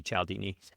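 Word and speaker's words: Cialdini: of Persuasion by Robert Calaldini. I believe that's how it's pronounced. Uh it might be Chaldini if I were Italian.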